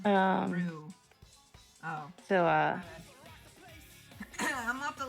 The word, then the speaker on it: Rouge: By the way, it's pronounced Rue.